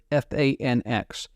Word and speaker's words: FANX: complexes just north of Fort Meade called the f-a-n-x pronounced fanx it was a challenge to go to